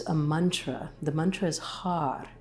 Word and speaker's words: har: And right as you pronounce the sound r, it's a little bit of a roll of the tongue. Har. So your tongue is touching the roof of the mouth.